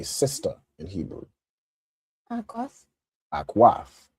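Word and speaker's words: אָחוֹת: Akwaf.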